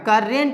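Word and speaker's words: current: अ पढ़ते हैं, इसीलिए यहाँ भी करंट होगा, करेंट नहीं। इसको बहुत कोई करेंट पढ़ते हैं लेकिन करेंट नहीं, करंट सही उच्चारण है, ठीक है, ये समझ गए।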